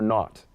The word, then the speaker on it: naught: giving has been for naught. Oh, not. The G is silent. For naught.